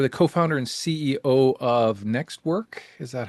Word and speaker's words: NxtWork: And you're the co-founder and CEO of NxtWork. Is that how it's pronounced?